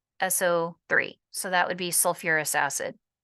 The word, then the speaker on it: sulfurous: that extra syllable so instead of sulfus acid it's sulfurous instead of phosph it's phosphoric but sulfur and phosphorus are